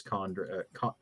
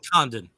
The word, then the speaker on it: Condon: the Fallout by Chris Condra. I think I'm saying his name wrong. Condon and Jeffrey Allen Love. So, go check those out and follow. It's Condan. Condan.